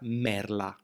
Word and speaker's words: merla: Pay attention to the pronunciation of this word, to avoid annoying misunderstandings: it is pronounced 'merla', with the letter L for lemon.